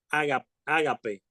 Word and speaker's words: ágape: tenemos en el griego está ágape agape tiene acento en la agape ese ese verbo